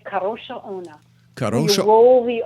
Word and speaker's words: Kadrolsha Ona: Kadrolsha Ona? That's really close. Thank you. All right, how would you say it? I would say it Kadrolsha Ona. Kadrolsha. You roll the R. Kadrolsha Ona.